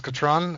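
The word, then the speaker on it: Katran: And, yeah, her real name is Catron. Catherine is just Atris's mispronunciation of it.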